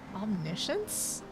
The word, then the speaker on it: omniscience: Omniscience? That's how you say it? Huh, thank you. That's where omniscience. So that's where the emphasis is.